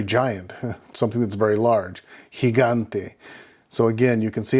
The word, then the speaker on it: gigante: Another example would be with the I, G-I, G-A-N-T-E, gigante, which can be either a giant or it can mean something that is very giant, something that's very large, gigante.